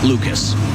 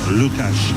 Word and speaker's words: Lukáš: Well, they're going with the more Americanized version. I know the Anaheim broadcasters go with Dostal. Lucas. Right. Yeah. As opposed to Lukáš Dostal.